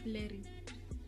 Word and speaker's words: blerrie: And then with colored people, they'd be blurry. So BLERRIE. That's a blurry.